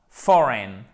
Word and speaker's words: foreign: à petit enzo foraine foraine ok bien prononcé ces l'accent tonique son premier forum for n est pas foreign non foraine domestique 0 enjoy tiphaine